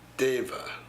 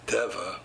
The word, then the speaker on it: Deva: Deva, because it's spelled like Deva, but she said it was Deva.